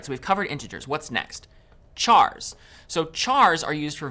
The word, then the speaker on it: char: Chars. So, chars are used for variables that will store single characters. Char, short for character. And sometimes you might hear people pronounce it as car.